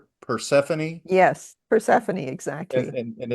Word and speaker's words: Persephone: that yeah, I will say that there's a glimmer of hope towards the end on the Persephone Persephone. You said it right the Persephone first time.